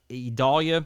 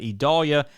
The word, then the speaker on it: Idalia: date again expecting uh idolia it's very hard to say Idol yes if we're used to saying Vidalia but a little different pronunciation but idalia will strengthen through the